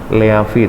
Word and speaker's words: leave: Leave tulisan itu ya. Bacanya leave, v di ujung v. Bukan p. Ingat, bukan f juga.